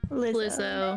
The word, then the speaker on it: Lizzo: was it lizzo yes how do you say is it lizzo or Liza lizzo okay don't serve them